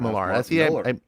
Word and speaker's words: Millar: man you know Mark Mark millar's actually Mark Miller but he pronounces it Miller that's the one I was